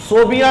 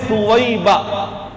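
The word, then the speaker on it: ثویبہ: لہب کی باندی سویبہ، لوگ اس نام کے رکھنے میں غلطی کرتے ہیں، صوبیہ نام پکارتے ہیں جو غلط ہے، یہ فعیلہ کے وزن پر نام ہے اور اس کا تلفظ ہے سویبہ۔ بہت ساری بچیوں کا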